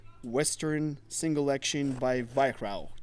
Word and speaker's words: Weihrauch: We're talking about a beautiful piece of German machinery called Western Single Action by Weihrauch. Did I pronounce it right? Yeah, you did. Yeah, because he's German, he's local.